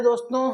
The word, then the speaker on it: the: मैं यहां पर समझा देता हूं आपको कि दोस्तों ये जो द है इसे कहीं द पढ़ा जाता है और इसी को दोस्तों दी भी पढ़ा जाता है अरे सर कब